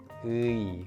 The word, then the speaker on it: 의: So it's 의, 의, 의. To sound more natural, try pronouncing a little longer than the following e.